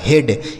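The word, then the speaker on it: head: यह लिखा गया आपका हेड एच ई ए डी हेड बी आर ई ए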